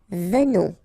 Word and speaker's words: venons: Okay, so final S not pronounced, and then remember that you pronounce this like a the, venons, okay, O-N in your nose, on, venons, nous venons, alright,